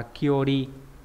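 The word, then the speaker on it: 距離: Thêm bộ túc vào là được chữ cự trong từ cự ly, liên quan đến con đường, đọc là kyori. Không có trường âm.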